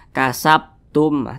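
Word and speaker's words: كسبتم: ba dia sukun nah Berarti cara bacanya itu dipantulkan kasabtumah mantul seperti itu jangan dibaca seperti ini kasabtum tidak ada pantulannya itu salah tapi harus ada pantulannya kasabtum nah seperti itu Qalqalah kecil karena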